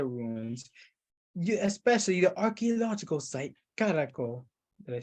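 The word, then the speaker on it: Caracol: Another draw is the Maya ruins, especially the archaeological site Caraco. Did I say it right? Yes. No, yeah, Caraco.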